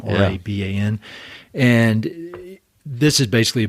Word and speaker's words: Raban: I think that's how you say his name, Raban.